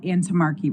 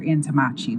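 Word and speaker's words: Antommarchi: we have what are called antimarchy rights, or antimachi. That's pronounced two separate ways.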